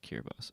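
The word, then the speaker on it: Kiribati: T is pronounced like S or the word C. That's Kiraibat Kiraibas. It pronounced Kirabas.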